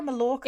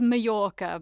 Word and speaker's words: Mallorca: Is it Majorca or Mallorca? It's it's Majorca, but yeah, it's a joke that a lot of English people pronounce it Mallorca, but in Spanish if it's two L's, it's a J.